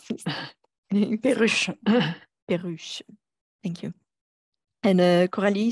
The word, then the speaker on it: Perruche: I never know how to pronounce this. Perruche.